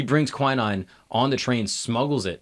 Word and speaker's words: quinine: he brings malaria medication quinine is that how you pronounce it yeah he brings quinine on the train smuggles